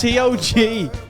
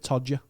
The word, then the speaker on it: Togher: Well, it's Togher, but I'm choosing to pronounce it Todger.